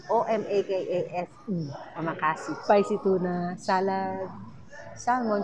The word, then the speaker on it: omakase: Kaya hindi ko alam kung paano i-pronounce. Omakase. O-M-A-K-A-S-E.